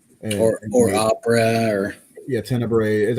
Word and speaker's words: Tenebre: or opera or yeah tenebre i've heard it pronounced so many ways but they say it tenebra in the movie uh but he could